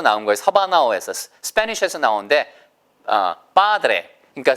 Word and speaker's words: padre: 그러니까 스페인 말에서는 padre라고 하고요. 영어에서는 padre가 맞을 거예요. padre. 아시겠죠? 이게 보세요. 왜냐면 스페인 말을 그대로 살려야 되기 때문에. 그래서 보세요. padre. 근데 영어에서는 에 발음으로 끝나는 걸 좀 힘들어 하거든요. 그래서 padre 이렇게 발음하는 원어민도 있어요. 아시겠죠? 보세요. padre 아니면 padre 다 좋습니다.